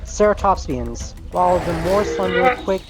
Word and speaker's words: Ceratopsians: It's pronounced Ceratopsians. Right, Ceratopsians, while the more slender, quick Gorgosaurus might have run down Hadrosaurs.